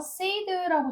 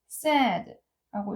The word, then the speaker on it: said: 이게 과거형인데 이거 say라고 잘못 읽으시는 분들이 참 많습니다. 아니고 said라고 읽어 주셔야 돼요.